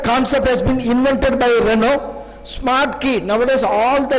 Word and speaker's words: Renault: he in here uelt in french language we pronounce this as renault so renault we are a company